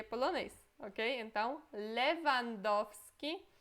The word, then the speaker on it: Lewandowski: Lewandowski. Lewandowski.